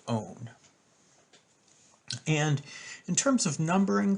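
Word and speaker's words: -one: have the suffix own yes it looks like the number one but it's pronounced own and in terms of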